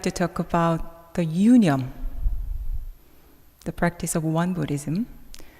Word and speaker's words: Yoonyum: So Yoonyum, the pronunciation is a little difficult, right? So you can follow me. Yoonyum.